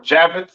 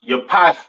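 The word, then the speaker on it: Japheth: East Indians all right next we have jaffet all right or javet some people like to call it right um pronounce Yap in Hebrew these are your so-called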